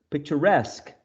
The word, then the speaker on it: picturesque: journal journalist cigar cigarette picture picturesque okay so sometimes we are